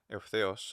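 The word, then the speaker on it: εὐθέως: that a short vowel, like say eutheos, so the th is high, but then the os is low. Eutheos. So there's 3 syllables, and awkwardly the th is short but high and stressed in my version of doing it. So eutheos. And the key is that the th has to be high.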